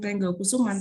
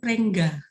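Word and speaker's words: Pringgokusuman: Jadi pada saat dipasang papan nama itu mereka membacanya bukan Kelurahan Pringgo Kusuman tetapi Prengga.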